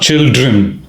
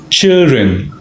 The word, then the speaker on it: children: and daughter children now the pronunciation children it's not children D is dropped silent children so my children are